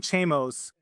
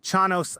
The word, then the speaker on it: Chanos: At least according to Jim Chamos, uh, Chanos, I always say his name wrong.